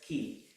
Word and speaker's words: कि: Okay, it's pronounced as ki. It's very simple. K with the small e. So you have a k sound and you have a e with it.